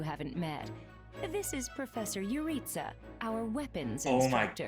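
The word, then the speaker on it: Jeritza: This is Professor Yuritsa, our weapons Oh my instructor. god, I've been pronouncing that one wrong too. That one's like actually pronounced Yuritsa though. Just like Geralt, I've been calling him Juritsa.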